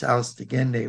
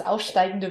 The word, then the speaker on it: aufsteigende: a concise history of the second planet, which in the German is Venus Austegende, which is Yeah. there. It's so cute how you say it. It's aufsteigende Venus, but it's fine.